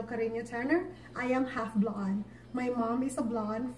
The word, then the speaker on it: Blaan: are the mother signs just say blonde so please help us spread this advocacy because it is a bit right to spell it right the first time and say the word right and yes it is blonde alright for more information